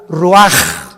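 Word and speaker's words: ruach: rach así como suena se pronuncia la c en hebreo como J ruaj se le só y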